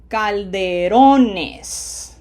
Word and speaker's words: Calderones: Notice when we pluralize it, it loses its accent because it's no longer needed. Now it ends in an S. So it's automatically syllable number 2, which is exactly where it was for the singular noun.